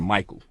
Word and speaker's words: Michael: So like we look at the word Michael, right? CH is pronounced like a K, right?